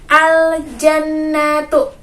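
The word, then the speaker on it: الجَنَّةُ: Nah, contoh bacaannya itu seperti yang ada di buku, yaitu al-jannatu.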